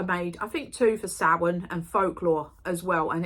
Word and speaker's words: Samhain: Some people call it Samhain in America. It is pronounced Samhain, as in S-O-W-E-E-N, but with a apostrophe, Samhain.